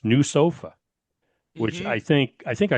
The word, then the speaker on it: NWSOFA: NWSOFA, and it's pronounced new sofa, which Hmm.